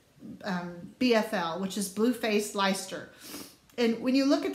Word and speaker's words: Leicester: But the British BFL yarn is blue-faced Leicester, and it looks like Leicester or Leicester. But I promise, it's Leicester.